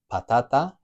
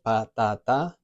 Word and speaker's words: patata: So a word that ends in an A, like patata, has 3 syllables, patata, and we've got that a vowel sound, a, patata, nice and simple, 3 syllables, there's no accent, no tilde. So it's going to be the second to last syllable, the strong one, patata, patata.